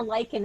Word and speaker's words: Luiken: So it's just the spelling for Luiken is probably the hardest part. I pronounce it Luiken, but there's actually a silent U in there.